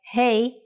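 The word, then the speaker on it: ה: time for Jana's insights doesn't hey from this lesson sound like hey in English when you say hello to your friends that's exactly the sound for the Hebrew letter hey now you can think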